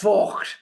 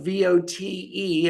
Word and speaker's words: Vogt: It is harsh Germanic. It's pronounced Vogt, but we don't say it that way here in America because people think you're swearing at them. We pronounce it like VOTE, and we're not going